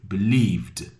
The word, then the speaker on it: believed: Believe, believe, believed. So you have the D sound.